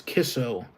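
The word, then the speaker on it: KICO: It's spelled Kiko, or the word is, or the abbreviation for it is Kiko, but it's pronounced, well, it's spelled that way, but how you're supposed to pronounce it is Kisso. As interesting as it sounds.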